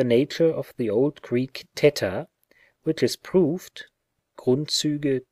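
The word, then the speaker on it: theta: 187 and the following the lisping pronunciation of teter like the english usual in modern greek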